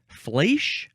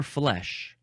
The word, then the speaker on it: flèche: The first word in this episode is pronounced either flèche or flèche.